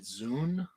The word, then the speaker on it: xun: Is that Zune? Is that how you'd pronounce that?